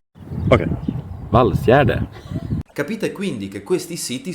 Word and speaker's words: Valsgärde: Il sito in questione si scrive, noi in Italia di solito lo pronunciamo qualcosa come Vasgarde oppure Vasgede, ma in realtà il buon Jonas ci dice che si pronuncia Ok, Valsgärde.